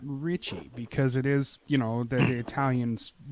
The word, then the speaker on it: Ricci: But when I go into restaurants, Italian restaurants, or even Asian restaurants, they say Ricci, and they pronounce it correctly. But it was easier to go with just Ricky.